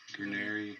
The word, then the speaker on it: Guarneri: Yeah, how do you pronounce that? Giuseppe Guarneri.